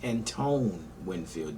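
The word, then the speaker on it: Antoine Winfield: just did for the 220 safety prospect I mispronounced and Pantone's Winfield Julian's name I called him some meth but his name is Antone Winfield jr.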